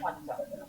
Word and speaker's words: Kwanzaa: first time I ever heard about this holiday, Kwanzaa. Mm-hmm. Am I pronouncing it correctly? Yes. Yes, Kwanzaa.